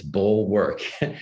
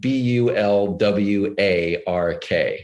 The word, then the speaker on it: Bulwark: people, it's funny, like people think it's Bulwark. Well, hopefully it's not bull. It certainly is work. But the Bulwark, for those who don't know, is spelled BULWARK. So one L and it's an A instead of an O, and it's all one word.